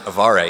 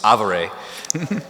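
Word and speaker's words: Avaré: I have another series called, I pronounce it Avare because I'm a stupid American, but it's Avare.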